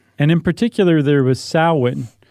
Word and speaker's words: Samhain: And in particular, there was Samhain, which forever I've always said Samhain because that's how it's spelled.